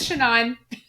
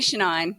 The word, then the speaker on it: Shannyn: her shanine so therefore she'd be known as shanine let's not call me shenan let's not let's that's it like call it